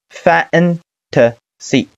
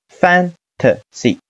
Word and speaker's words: fantasy: t t，后缀是 s i c， fantasy fantasy fantasy fantasy fantasy。